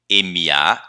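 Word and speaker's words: 马: MA terceiro tom, Ma. O caractere da mãe está pegando o som emprestado dele. Então, como que a gente lê o caractere de mãe? MA primeiro tom, Ma. Certo? Vejam que, quando um caractere pega emprestado o som de outro, o som não se mantém necessariamente idêntico. Aqui, por exemplo, mudou o tom.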